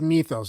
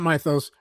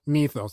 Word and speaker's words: mythos: It's mythos, not mythos, mythos.